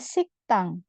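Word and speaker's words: 식당: tan perpustakaan kudian ada siktang sik tang di sini Gio ketemu sama Diget dia akan dibaca seperti sangket jadi bacanya siktang siktang artinya kantin nah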